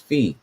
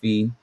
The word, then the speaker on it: phi: started from the beginning, the pronunciation is supposed to be F-E-E, which I would think that says phi.